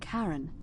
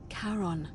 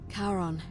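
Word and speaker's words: Charon: coin just as you described it only your pronunciation is a little off the name you heard wasn't Karen it was c h a r o n as in Caron the ferryman of the Dead karon who in exchange for the right coin helps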